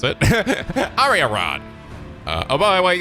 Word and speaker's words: Arianrhod: Oh, is that how you pronounce it? Arianrhod.